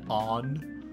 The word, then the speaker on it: Ann: keep on in Saint Anne but it's they're pronouncing it on with like it's like it's an Ahn on yeah so I'll try and get that